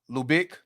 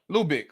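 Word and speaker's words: Lubbock: It's Lubick. Oh, okay. It's pronounced Lubick. Okay, Lubick, Texas.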